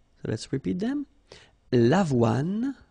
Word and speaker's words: l'avoine: L'avoine, le blé, le maïs, le millet. So let's repeat them. L'avoine, remember, don't insist on the final E.